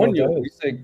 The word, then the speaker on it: coño: We say coño. You say what? Coño. Coño? Yeah. Yeah. How do you spell that? That's going to be difficult to say in English. C-O... N-L-L-Y-O? L-L-O, right? No. Wait, what are we spelling? Coño. Damn it. C-O-N-Y-O. Enya is a letter that's not in the English alphabet.